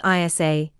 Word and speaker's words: Isa: gothic in these languages the name is pronounced Isa meaning ice or water in its most